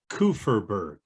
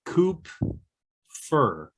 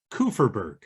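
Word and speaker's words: Kupferberg: tuli's last name is kuferberg before i was trying to say coop fur but the p and f kind of blend together now the p is silent kufferberg thule kufferberg does that sound right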